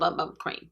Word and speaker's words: Bum Bum Cream: Tati said it's Boom Boom Cream, but it's spelled Bum Bum Cream.